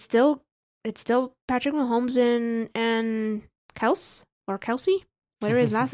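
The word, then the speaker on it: Kelce: Well, just to make it clear, people, the dad of the Kelsey brothers came into their podcast and said, our last name is actually pronounced Kels, but he got tired of correcting people over and over and over again because people just call him Kelsey.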